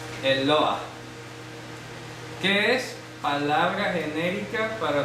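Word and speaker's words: Eloah: los cielos es la palabra hebrea eloa el loa se pronuncia así el loa Qué es palabra genérica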